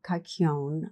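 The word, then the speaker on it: kykeon: then they would drink the sacred kakon I'm not sure if I'm pronouncing that right it's spelled KY ke o n which is a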